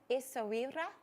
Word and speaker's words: Essaouira: I looked at English, or American, British, Arabic, and French pronunciations, and they're all different. So I went with what was kind of the American/Arabic, and it's Essaouira.